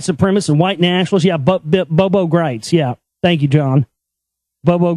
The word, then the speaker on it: Gritz: But see, now that I've fully exposed Greitz, not Griggs, but yeah, Greitz.